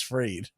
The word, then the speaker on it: Fried: to say his name it's Max freed Max free he's on